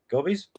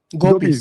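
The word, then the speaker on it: gopis: that the gobies or how do you say gobies? Gopies.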